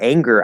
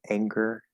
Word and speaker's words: anger: That for anger, I use the a diphthong. A, just like also in danger, dangerous, except it's not it's nj with a g sound instead of a g sound. But the vowel is the same there. Now, could that be with